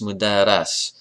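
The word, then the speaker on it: مدرَّس: Secondly, I mean, listen to the pronunciation difference. It's the difference of a short vowel. Mudaris, mudaras.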